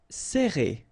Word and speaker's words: serrer: All right, so interesting here because you get this E and then double R after that. So it will open the sound of E, okay? So you will pronounce it like E.